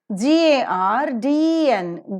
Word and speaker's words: garden: The R letter before the consonantal sound is never pronounced. This is the second rule for R. When R occurs in the word final position, it is never pronounced. When R occurs in the spelling before the consonantal sounds, it is never pronounced. So it is not garden, it is garden.